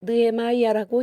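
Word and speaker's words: Nehemiah: 영어 성경은 느헤마이아라고 읽는다.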